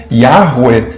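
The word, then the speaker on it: Yahweh: Seria mais ou menos algo como Yahweu segundo a reconstituição e atual e maior consensual entre os estudiosos, com as vogais de Adonai.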